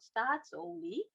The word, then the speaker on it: Statoil: In today's Suriname's presentation, we'll have it more about Statoil, and you did pronounce it correctly, Alison, so no problem about that.